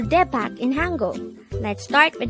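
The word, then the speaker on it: 대박: word number 114 this is a two-syllable word the first syllable is de second syllable is back pronounce it with me back kepak is used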